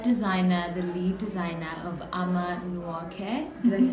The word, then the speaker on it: Ama Nwoke: Who is the head designer, the lead designer of Ama Nwoke.